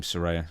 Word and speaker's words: Saraya: Saraya? Saraya, yeah, that's her real name, Saraya.